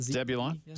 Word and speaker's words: Zebulon: is the other triangle all right correct okay Zebulon is that how you pronounce that Zebulon yeah Zebulon Vance was uh a governor of